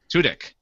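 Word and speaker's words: Tudyk: Torres juel State and alen how do you pronounce his last name tudk tudk Alan tudk reminisced about the show and as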